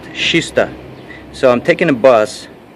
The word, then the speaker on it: Kista: uh we are here you see that kista but pronounced shista so i'm taking a